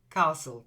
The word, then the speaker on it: castle: is Castle or Castle but it's a silent T it's like the T isn't there Castle try it Castle that's